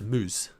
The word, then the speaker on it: Muzz: Muzz means banana in Turkish. Hence why his branding is bananas. It is pronounced moose.